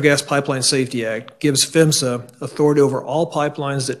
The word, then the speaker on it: PHMSA: hazardous materials safety administration and we pronounce that as femsa the federal law which is the natural gas pipeline safety act gives fimsa authority over all pipelines